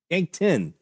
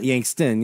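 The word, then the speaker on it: Yankton: Yank 10, not Yankst. Yank 10.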